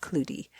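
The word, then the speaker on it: cloutie: They're called cludies. C l o u t i e. It's pronounced cludy.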